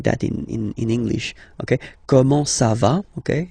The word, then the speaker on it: comment ça va: Okay, comment ça va? Okay, you raise a little bit at the end.